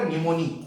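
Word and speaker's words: pneumoniae: Streptococcus निमोनी, P silent होता है।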